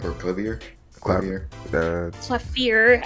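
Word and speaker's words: Klavier: Clavier, actually, if you're to pronounce it in German.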